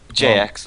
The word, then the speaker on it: JX: have Tyrant versus Jiang Ji. Is that how you pronounce it? JX, I say.